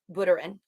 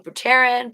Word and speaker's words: Buterin: 2009 um then vitalik buterin oh my god i think i finally know how to say his name now i was saying bhutarin buddharan i think that's borderin uh vitaly buterin would have